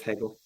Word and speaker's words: Hegel: Like 90% sure it's pronounced Hegel. Hegel? It is Hegel.